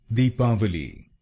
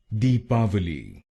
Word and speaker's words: Deepavali: to the Hindi pronunciation it should be pronounced with a V sound and not a w sound D bite your lower